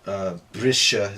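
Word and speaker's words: briseadh: So brisha is another example. Breaking or change. Brisha. Sha. You hear the ADH ending more than the EA combination there. It takes precedence.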